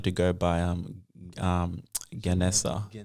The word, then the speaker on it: Gènèsá: Um yeah, and it's pronounced um yeah, Ganessa. It's pronounced Ganessa.